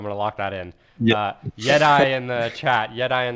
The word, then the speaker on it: YetAI: Yeah, I, Yeti. All right, like Jedi. I got to remember that. I'm gonna lock that in. yeah. Yeti in the chat.